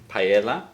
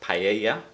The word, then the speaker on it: paella: to the birth village of Paella, or Paella, as the Spanish say it.